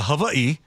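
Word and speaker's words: Hawaiʻi: You see, in uh Havi, the letter W is pronounced as a V if it's not the very first letter of the word.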